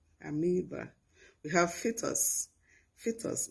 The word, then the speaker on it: amoeba: also have amoeba amiiba i know that this word is still pronounced amoeba in schools but that is incorrect it's amoeba amoeba we have fitters fitters